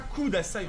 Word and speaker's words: kudasai: C'est pas kudasai en plus, c'est un peu entre le E et le U.